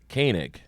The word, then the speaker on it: Koenig: pronounces it Koenig.